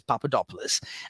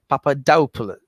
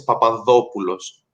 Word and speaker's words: Papadopoulos: the same which is papadopoulos uh but you you say it with that extra uh stress on the oh you after the p so it's papadopoulos yes yeah yeah and